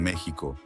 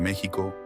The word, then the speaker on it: México: de la identidad así aunque el nombre se pronuncia con J se conservó la escritura con x en parte para mantener